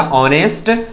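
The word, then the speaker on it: honest: तो देखिए यहां पर एच साइलेंट है, यहां बोलेंगे इसको अवर, यहां भी एच साइलेंट है, इसको बोलेंगे क्या, ऑनेस्ट।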